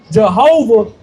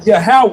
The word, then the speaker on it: Yahawah: when you calling upon Jehovah versus you call upon Yahawah. That's right. You see what I'm saying? The Most High, the Most High, he he don't owe us nothing. He might not. He Yeah, he you saying Jehovah Most Jehovah. When you say Yahawah, you talking in that tongue that he gave you.